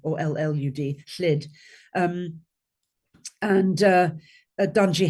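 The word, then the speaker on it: Lludd: King L lid it's pronounced in Welsh L lud or L lud liid um and uh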